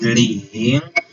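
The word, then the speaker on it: 零: And zero, the pronunciation for zero in Chinese is ling. This le has a third tone. A third tone is sorry, it's a second tone. A second tone is a rising tone.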